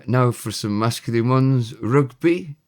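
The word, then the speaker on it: rygbi: Rugby is rugby. R Y GBI, we heard that before once.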